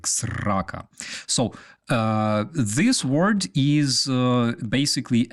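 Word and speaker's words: срака: Yeah, you gotta say it like Ukrainians, like sraka.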